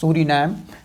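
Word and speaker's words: Suriname: Guyana, this is Suri name, Suri name is pronounced Suri name and this is French Guiana, French Guiana in its spelling.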